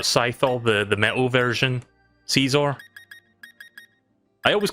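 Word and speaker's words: Scizor: But I always called him Scissor because that I thought that was the joke, because scissors. But now apparently you pronounce it as Caesar, according to that.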